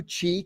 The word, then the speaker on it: Qi: Hey, let's do Qi charging, which is spelled QI for those out Correct.